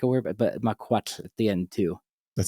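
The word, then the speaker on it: macuahuitl: Because the na mquat is how you say it.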